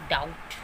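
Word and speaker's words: doubt: For example डाउट, subtle. तो यहाँ पे टी बी के बाद आया हुआ तो यहाँ पे बी जो है वो साउंड नहीं कर रहा, इसको हम पढ़ेंगे डाउट.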